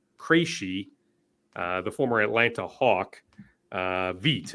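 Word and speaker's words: Vít: They did release Victor Krejci, the former Atlanta Hawk. Veet, actually, is the pronunciation.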